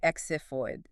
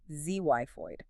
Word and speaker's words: xiphoid: You don't say exiphoid, the X operates as a Z, ZYPHOID.